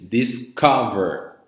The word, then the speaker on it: discover: So in this case, the verb discover, the intonation is discover. So the strong part of the verb is discover, right?